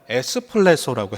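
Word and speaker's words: ἐκπλήσσω: 이걸 헬라어 원문으로 찾아보니까 에스플레소라고 해요. 여러분이 좋아하시는 커피와 비슷한 발음이 되는데 이 에스플레소의 뜻은 뭐냐 하면 그냥 놀랐다 정도가 아니라 충격을 받았다는 뜻입니다.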